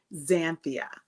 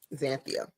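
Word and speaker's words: Xanthia: it is very phonetic it actually is said just like it is spelled it's zanthia zanthia okay so but it is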